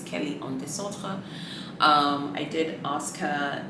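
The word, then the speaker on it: Kelly en Désordre: the Santa you know if we're trying to say it properly in French some people call it the disorder Kelly some people say Kelly disorder but really if we're being specific it's Kelly on DeSoto um I did ask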